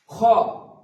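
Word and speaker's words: خ: খ, খ, খ উচ্চারণ হবে কনসোনেন্টের শুরুর দিক থেকে, এটা শুরুর দিক এবং এটা হচ্ছে নিচ দিকটা হচ্ছে শেষ দিক।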